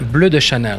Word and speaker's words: Bleu de Chanel: Bleu de Chanel. That's the proper pronunciation.